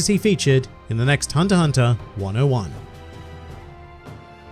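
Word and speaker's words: Hunter × Hunter: I hear people say hunter x hunter the X is silent and it's not actually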